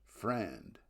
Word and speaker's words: FRAND: and non-discriminatory licensing fees, or FRAND, pronounced FRAND.